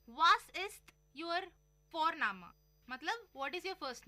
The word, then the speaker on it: Vorname: और हम यहाँ पे फोरनामा प्रोनाउंस करते हैं बट लिखते हैं उसको VORNAME. ओके, तो वो हम इंग्लिश के अनुसार प्रोनाउंस करेंगे तो बनेगा वॉरनेम, बट नो, इट्स फोरनामा.